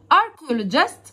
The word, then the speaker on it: archaeologist: archaeologist بصوا كده السي والاتش، عارف ان بنطقها بصوت حرف الكي. archaeologist archaeologist archaeologist يعني عالم اثار، شخص مهتم بدراسه الاثار.